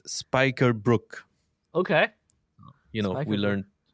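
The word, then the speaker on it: spijkerbroek: you say jeans and apparently we the way you say that is spikerbrook okay you know we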